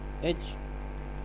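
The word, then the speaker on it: etch: अच्छा जी, ये वर्ड क्या है जी, इसको क्या पढ़ते हैं आप? एच। इसमें टी साइलेंट है, ऐसे ही है।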